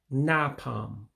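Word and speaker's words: na-akpọ m: So you see in that what looks like English AKP, you drop the A in that. So again, it's Indi anyam napam, Man.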